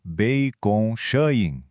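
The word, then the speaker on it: 杯弓蛇影: A pronúncia é algo como Bei Kong Shayin.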